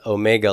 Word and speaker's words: omega: And then, of course, this omega looks like a W. It does not sound like that, okay? Long O sound, O.